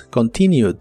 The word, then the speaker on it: continued: En el pasado es continued. Es muy similar a la forma del presente, solo que aquí termina con ED, aunque solo se pronuncia la D. Continued, continued.